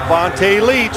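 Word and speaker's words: Vonta Leach: You said it right. Vonte Leech.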